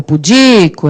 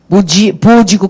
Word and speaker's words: pudico: O pudico é o di.